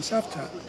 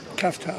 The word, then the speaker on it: Cavtat: We're in Savtat, or Cavtat, as a lot of people call it, but it is actually pronounced Savtat.